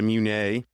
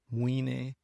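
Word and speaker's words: Mũi Né: I mean, I asked my tour guide to Mune. I know I'm mispronouncing that. Nobody knows. Moine. It's Moine.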